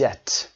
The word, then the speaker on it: debt: A lot of people are in debt. بیش تلفظ نمیشه، دقت داشته باشید.